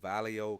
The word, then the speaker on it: Vallejo: our first time joining the live watching from valo California did I pronounce that right oh thank you valo yeah Vallejo California thank you for joining us oh oh